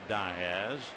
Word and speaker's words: Diaz: batter is Matt Diaz d a z but it is pronounced Diaz and as Matt said very simple grandfather came over from Barcelona Spain and he pronounced it die as end of story Matt had